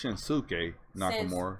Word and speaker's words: Shinsuke Nakamura: First of all, they're saying his name wrong. It's Shinsuke Nakamura.